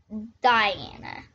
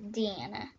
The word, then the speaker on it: Deanna: other one's named bill my mom is named diana deanna no my mom's name is deanna yeah deanna and my